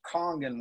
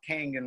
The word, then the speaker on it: Kangen: know for those out there don't know it's pronounced Kong and water not kangen water and that's why Kong exists because I